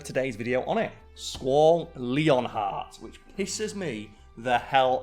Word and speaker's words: Leonhart: video on it Squall leonheart which kisses me the hell off so did you know that squall's last name is Squall leonhart not Lionheart Leon heart l-e-o-n heart even though it's not